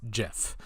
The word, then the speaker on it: GIF: accepting an award to say that was pronounced Jeff and the reason for this is that of a team of something like 20 or 30 people he and a handful of them liked a joke where it was pronounced like the peanut butter so that they could